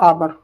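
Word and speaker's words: hour: ध्यान रखना आवर एन आएगा। यहां हो गया वोवेल साउंड आ रहा है। जब एच क्या है? साइलेंट है।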